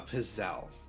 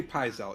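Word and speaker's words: pizzelle: It's from the south and it is called a pazelle or pisel, but if you say pisel, you're wrong.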